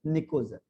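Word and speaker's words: pnictogen: तो P silent रहता है इसमें, निकोजन, निकोजन।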